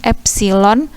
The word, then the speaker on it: epsilon: Nah, sementara huruf yang ini, simbol yang ini kayak huruf E sama 0 itu bacanya epsilon 0.